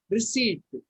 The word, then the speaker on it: receipt: But P is silent.